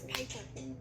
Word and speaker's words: Piper: my name is Piper. So, Rhymes with Viper.